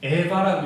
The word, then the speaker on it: Eva: 자, 하와의 라틴어가 뭐냐면은 EVA, 에바라고 읽어요.